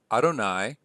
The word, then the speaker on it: Adonai: So we have Ko Amar Adonai, which is the way that the Jews pronounce the four-letter word Yod He Waw He, the name of God.